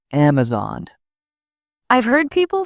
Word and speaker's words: Amazon: People often call Amazon with stress on the zone. It's Amazon.